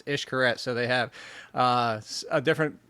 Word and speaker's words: Xcaret: Xcaret. So the X down there is the X down there is an ish. So if it's Cancun, Mexico, for everybody that's wondering, it's Xcaret.